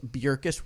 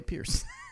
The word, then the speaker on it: Bjerkes: But so speaking of Paige Bjerkes, World Champion 2018 FPO. Nice pronunciation. Do you like that? Yeah, it's great. Nice. I didn't say Pierce.